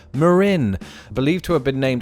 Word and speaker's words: Marin: local county names fresh this place whether you're referring to the county or the headlands is not Marian but and I hope you spot the subtle difference Marin believed to have been